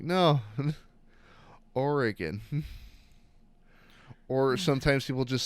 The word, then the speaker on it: Oregon: So I've had people from like neighboring states mispronounce Oregon. Organ. They're like Oregon. I'm like, no. Oregon.